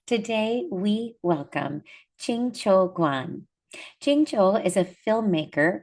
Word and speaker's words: Guan: I said Quan, I meant to say Guan with more of a G sound, but it's lovely to have you here.